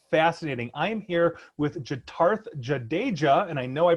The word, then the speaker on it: Jitarth Jadeja: I am here with Jitarth Jadeja, and I know I pronounced that correctly because I did ask you ahead of time on that one.